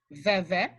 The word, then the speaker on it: veve: The next thing we're going to look at is, all right, this is a veve, and it's pronounced veve, of Ezuli Freda Dahomey.